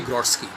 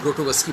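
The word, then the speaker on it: Grotowski: उसका असर आता है उस रंग का नाम था जर्जी ग्रोट स्की जिसको हम लोग भारतीय उच्चारण में ग्रोटोवस्की बोलते हैं जर्जी गोस्की पोलैंड के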